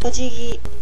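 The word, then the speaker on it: お辞儀: The kanji for bowing is pronounced ojigi, or spelled in English and pronounced ojigi.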